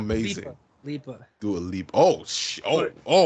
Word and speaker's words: Lipa: Dua Lipa shirt, and and not a it's Lipa, amazing. Lipa.